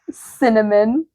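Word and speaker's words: Synamin: She named her S Y N A M I N pronounced cinnamon. Absolutely the not.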